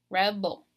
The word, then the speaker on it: rebel: the last syllable and then you have rebel rebel so you're stressing the very first syllable Reb oh so like the OL kind of comes out kind of weak because I'm putting more power and more emphasis in the beginning of that word rebel and also knowing